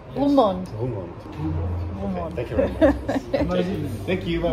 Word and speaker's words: Roermond: Just a Roermond. Roermond. Roermond. Roermond. Roermond. Thank you very much. Thank you. Bye bye. Du hattest recht. Roermond. 맞네. 저 독일식 발음으로만 로어몬트였어요.